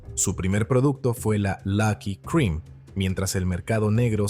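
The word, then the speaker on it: Lak-Hui: El nombre que se pronuncia Lucky significaba dicha o felicidad.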